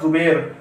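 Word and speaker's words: زبیر: अब आप इसे पूरा बनाइए ज़बैर, तो ये पड़ेगा जुबैर।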